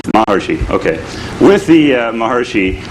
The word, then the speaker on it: Maharishi: So, of course, also with the Maharshi, what's the correct pronunciation? Maharshi. Maharishi, okay.